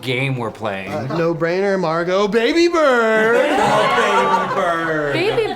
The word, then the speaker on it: Margot: I'm Margot, the ex is silent.